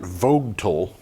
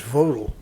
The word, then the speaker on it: Vogtle: The nuclear expansion project at Plant Vogtle, and I'm never sure how that's supposed to be pronounced. I think it's Vodal.